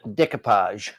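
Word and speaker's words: découpage: How do you pronounce that? Decoupage.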